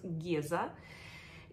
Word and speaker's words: Гиза: новинкой долгожданный геза э пишется как Гиза Но говорят геза и это Imperial vy